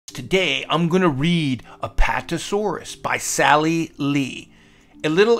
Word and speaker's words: Apatosaurus: How to say it. Apatosaurus.